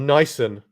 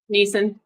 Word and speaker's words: Neeson: So, but then Neeson, you say Neeson or Nyson? Neeson. Oh, there you go. So yours is right.